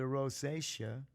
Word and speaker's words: rosacea: wound care and for the rosacea rhymes with croatia said wash your face